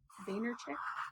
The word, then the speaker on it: Vaynerchuk: I also read a quote today from Gary Vaynerchuk, I believe is how you pronounce his last name.